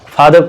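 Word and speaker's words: father: आप लोग लिखते हैं फादर, ठीक है, रा नहीं पढ़ा जाता, फादर पढ़ा जाता है।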